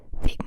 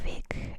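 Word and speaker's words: Weg: Um, for example, the German word ve. It's spelled w e g, but that last letter doesn't sound like a g, right? It sounds like a k. Fake. Vake means way or it could even be root, straight, path, all of these things. But we say fake as if it were a K.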